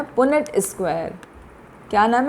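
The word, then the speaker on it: Punnett: में समझने के लिए, अदरवाइज इसका नाम है पुनेट स्क्वायर। क्या नाम है? पुनेट, PUNNET। आपकी बुक में स्पेलिंग दिया हुआ है, पुनेट स्क्वायर बोलते हैं इसको।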